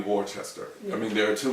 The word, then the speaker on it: Worcester: So his accent was part of the attraction and part of the arguments we had, because Worcester cannot be how you pronounce that word. It's got to be Worcester.